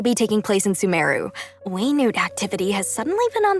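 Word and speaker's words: Wayob: The Waynute Slayer Cannon, huh? It's pronounced Waynute.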